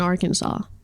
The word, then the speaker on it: Arkansas: have a bone to pick with Kansas in Arkansas because it makes no sense if one is pronounced Kansas and the other one has the